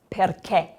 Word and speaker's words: perché: So then this word here is perché.